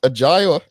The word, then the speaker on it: Ajai: you yes we can all right it is pronounced agile right hey thank you for correcting me i